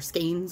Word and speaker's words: skein: get like a couple skeins of yarn or skeins of yarn I'm trying to remind myself it is pronounced skein I just found out like officially that it's skein so I'm trying to